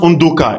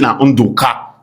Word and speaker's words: Undoka: In fact, it's pronounced Undoka in my own dialect. But when you go to the Igbos, they say na Undoka.